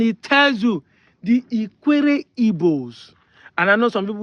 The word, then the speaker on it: Igbo: That IBO is your dialect. Direct pronunciation of Igbo. That's how I pronounce Igbo. Igbo. I know they pronounce an Igbo like IGBO. But I see some people come, I don't like the way, when I started, that's how they say, I don't like the way you're pronouncing it. You should pronounce it like Igbo.